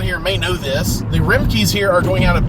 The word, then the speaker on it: Remke: The Remkes here are going out of business. The R-E-M-K-E, Remke. I guess that's how it's pronounced.